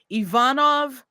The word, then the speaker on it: Ivanov: Russi are gonna come at us about our pronunciation help us out it's e e Ivanov for the rest of the the episode Ivanov